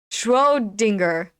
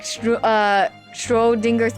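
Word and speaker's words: Schrödinger: Schrodinger. Oh, is that how you pronounce it?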